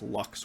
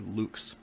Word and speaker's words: lux: It's pronounced lux or lux, depending on the pronunciation We don't know the perfect pronunciations for Latin.